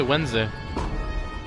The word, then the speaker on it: Wednesday: wednesday no i say wednesday yeah it makes me think is the d supposed to be silent oh you actually meant